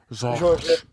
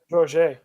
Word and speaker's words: Georges: Georges. Georges. Just take a swatch of peanut butter and put it on the roof of your mouth and then say the name.